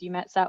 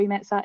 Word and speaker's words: EUMETSAT: a very long acronym so we refer to it generally as you met set or all you met site if you're in Germany and you pronounce it that way we are the European